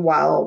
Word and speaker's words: while: The silent E makes the I say its name.